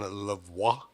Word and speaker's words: La Voix: How do you say it in La Voix? Yeah, like that. Was that You're good? good. Yeah, la voix. Oh, yeah, that felt good. La Voix. Yeah, and then you can say it, la voix.